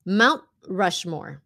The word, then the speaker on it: Mount Rushmore: Mount Rushmore. Mount Rushmore. Stopped T. Mount Rushmore. Chứ không phải là Mount.